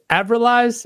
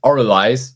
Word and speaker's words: Avralize: yeah the the name of the band is aiz am I saying that right it's actually pronounced oriz the after the the first a is um